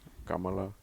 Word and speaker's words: Kamala: it's Cala too though she's comma huh Kamala is it how you say it in Indian you're not saying her name correctly and you know it Kamala it's not funny I